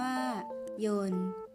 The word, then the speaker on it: ยนต์: รัก มา จาก ภาษา ขอ เสนอ คำ ว่า โยน และ โยน คำ ที่ ออก เสียง ว่าน แปล ว่า เครื่อง กลไก หรือ เครื่อง จักร ที่ ทำ ให้ วัตถุ เคลื่อน ที่ สามารถ เขียน ได้ 2 แบบ โดย แบบ แรก ได้